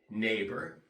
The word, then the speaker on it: neighbor: we have words like neighbor Vino and in those words too the GH is silent you do not pronounce the GH also as we learn